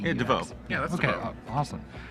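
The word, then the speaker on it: DeVeaux: Let's start off with our number one player right now, Nick DeVoe. I'm going to assume that's how you pronounce his name. It's D-E-V-E-A-U-X. Yeah, DeVoe.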